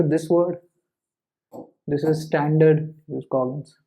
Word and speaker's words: jus cogens: The principle of jus cogens, yes, that is the actual pronunciation, jus cogens, means it's a peremptory law of international.